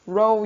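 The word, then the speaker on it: rho: a pia row r-h-o that's how you pronounce it row your boat row row equals to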